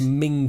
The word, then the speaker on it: Menzies: yes or you know British politician Menzies Campbell which pronounced Ming Campbell yeah yeah why but